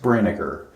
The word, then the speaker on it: Brinegar: It's pronounced Brinegar. Sounds just like vinegar. In German, it's actually Brinegar, but Americanized, it's Brinegar.